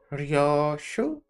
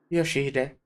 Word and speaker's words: Yoshihide: Ryoshu? 아니, 그 글자는 그렇게 읽는 게 아니라 No, that's not how you read those letters. 요시히데라고 읽는 거다. Yoshihide, that's how you say it.